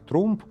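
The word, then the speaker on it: Trump: В немецком она звучала как Трумп, но в американском произношении стало Трамп. Писание с буквой А сохранилось, а вот звучание поменялось, потому что в США никто не произносил немецкое у через губы.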